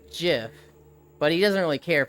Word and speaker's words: GIF: the world love you heck GIF pronounced with the G sound though M tomato tomato ha